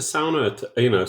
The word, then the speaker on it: sauna: And ANARCHO squats, but you have to pronounce the word the Finnish way, which is sauna, because it's a Finnish word.